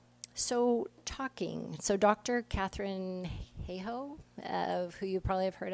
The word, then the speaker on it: Hayhoe: Catherine Hayhoe, who you probably have heard of, the climate scientist. May I pronounce that correctly?